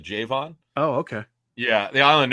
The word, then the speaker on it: Javon: way it's Javon Hargrave he pronounces it J Vaughn oh okay yeah the island noticed because I listened to an interview with him uh-huh and I throw mr. Vaughn he said Jay Vaughn so okay Vaughn all